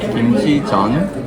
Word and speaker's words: 김치전: How do you pronounce it? Kimchi? Kimchi 전.